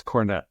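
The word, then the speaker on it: Kornet: cornet Luke cornet what it is not cornet it's it's not Hornet I promise you it's not Hornet I know I promise you it's cornette Luke cornette okay because when I saw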